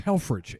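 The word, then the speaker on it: Helfrich: German name but actually my family name was hellfridge h-e-l-f-r-i-c-h but when my ancestors came to the United States in the 1890s their pronunciation was not good in the immigration officer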